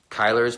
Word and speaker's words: Kyler: so it's pretty cool Kyler's pronounced just like it's almost like Kyle with an ER so I know it